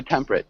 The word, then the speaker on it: temperate: temperate temperate temperate yeah so temperate just two two syllables um in temperate zones